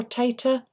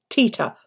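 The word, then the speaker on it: Teeta: Is it Teta or Tata? Which do you prefer? T-E-E-T-A as in Tita, or Tata? T-A-T-A. Have you tried antihistamines? Tita. Right, Tita. Okay. Have you tried antihistamines, Tita?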